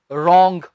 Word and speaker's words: wrong: जो शब्द अक्सर WR से स्टार्ट होते हैं उनमें हम W को नहीं प्रोनाउंस करते। कुछ वर्ड्स तो स्टूडेंट्स आपको आते ही हैं, जैसे कि गलत की इंग्लिश रॉन्ग, WRONG, लिखने की इंग्लिश राइट, WRITE।